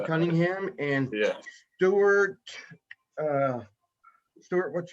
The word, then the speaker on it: Cunningham: mr i i hope i don't say cunningham am i correct yeah that's correct you pronounced cunningham and stuart uh stuart what's your last name